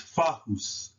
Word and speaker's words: fahus: So when you place the A between the F and the H, and the U between the H and the S, is fahus, fahus, fahus, fahus.